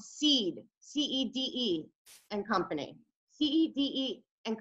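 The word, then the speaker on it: Cede: changed the entire Lewis Cass Payseur Trust into a new company called Seed, C-E-D-E and Company.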